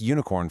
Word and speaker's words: unicorn: Take unicorn for example. It starts with a vowel u, sure, but phonetically, it begins with a yuh sound, a consonant glide. So, it takes an a, a unicorn.